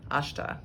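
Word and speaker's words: अष्ट: of the time but typically it will be pronounced as a sha as opposed to a soft s so those are the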